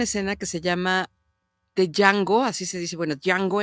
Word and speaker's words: Django: Es una puesta en escena que se llama The Django, así se dice, bueno, Django en Django con la soga al cuello, se escribe DJ Ango, ¿no?